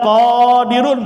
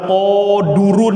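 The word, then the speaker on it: قَادِرٌ: Nggak boleh tuh baca qodurun, nggak boleh. Nggak boleh dibaca qodarun, nggak boleh. Karena ikut wazannya apa? Fa'i, maka qodi gitu.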